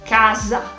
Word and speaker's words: casa: casa casa lo notas la s italiana la sencilla es más suave mientras la s española más fuerte necesito hacer más fuerza cuando la pronuncia casa ahora vamos a hablar